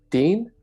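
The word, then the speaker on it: Thiền: Something Like Son uh in Vietnam it's pronounced something like Dean uh or the it's spelled like Tien but I think it's pronounced closer to team and then in Japan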